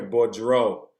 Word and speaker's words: Bordeaux: So sorry, Bordeaux. Sorry about that. Thanks for the the catch. Somebody texted me, hey, say the name this way. So yes, Bordeaux. Sorry about that.